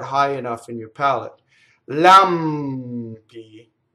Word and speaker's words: lampi: Lampi. Again, the M going into the P, right?